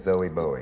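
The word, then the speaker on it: Zowie Bowie: your son's name Zelly your son's name is zoe boa yeah is it true that Frank Zappa has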